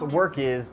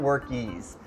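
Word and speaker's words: Workiz: and i keep saying work these guys but it's pronounced work is i don't know why i am it's okay so it's pronounced work is and not workees so work is easy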